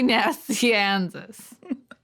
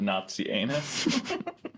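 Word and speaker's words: Nazianzus: basil the great and saint gregory nassianzus not nazi anus well when you say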